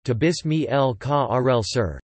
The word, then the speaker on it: Tobias Michael Carel Asser: Tobias Michael Karel Asser, Dutch pronunciation, Tobias Michael Karel Asser, the 28th of April